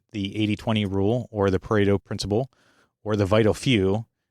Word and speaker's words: Pareto: Parto. And that's how I've always heard it pronounced. It might have a particular Italian flare that you are supposed to say it with like something parto.